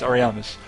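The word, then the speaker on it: Ariamis: places like the painted world of AR arus Aramis that's how it's pronounced Aramis that are separate levels and they're a good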